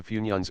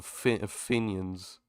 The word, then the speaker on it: Funyuns: I love how the TTS pronounced it. It's like Finions. Funyuns. Finions, or something like that.